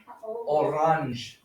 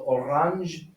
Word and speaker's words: Orange: So orange comes from the French language, which is why they still pronounce that G like the je, which is pronounced different from normal German G's.